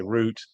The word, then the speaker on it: route: local government route route a route as the Americans say route as the British say and um and it